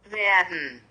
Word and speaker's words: werden: Werden, werden, Verb, werden, Verb, Hilfsverb, werden, Verb, então a pronúncia é werden.